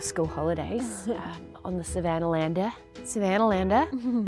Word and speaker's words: Savannahlander: Savannahlander, that's how they say it over here.